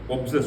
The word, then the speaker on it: obsessed: Obsessed, OB, and you pronounce it as AB, obsessed with.